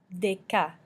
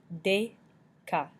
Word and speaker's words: déca: E with an accent aigu and ET make the sound A in English. A. Déca means decaf, as in decaf coffee. Déca.